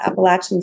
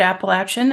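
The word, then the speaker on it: Appalachian: the lived experience wonderful I always see the word appalachin and I'm like in my head I say it five different ways I was like Yay I got to hear someone say it correctly appalachin see sometimes I say it like that and I'm like am I just is that I don't know sometimes I think that is not right okay excellent thank you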